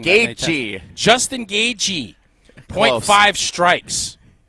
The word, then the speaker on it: Gaethje: Justin Gaethje. Nope. Gaethje. Nope. Gaethje. Nope. Gaethje. Nope. Right, how do you say it? Gaethje. God, how do I get it wrong? Gaethje.